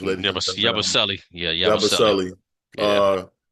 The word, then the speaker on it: Yabusele: We have hmm Yabasuli. I don't know how to say his name. I'm bad with pronouncing names, ladies and gentlemen. Yabusele.